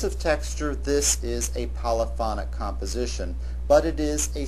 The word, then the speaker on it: polyphonic: polyphony, polyphonic. That is, the accent on the second syllable for the noun and on the third syllable for the adjective.